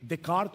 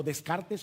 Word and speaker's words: Descartes: de el filósofo francés René descart o Descartes como se escribe en español pienso luego existo Qué